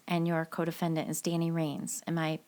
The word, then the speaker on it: Ranes: first two murders and your codefendant is Danny Reigns am I pronouncing that right yes you are I always